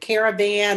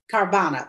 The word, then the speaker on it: Carvana: with you know cara what what is it caravan or car van or whatever where before we're uh carvana yeah yeah thank you for that i don't